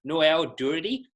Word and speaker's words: Noel Durity: for all of you well his name is noel dirty did I say your name right I'm very bad with pronouncing sounds to make sure and you did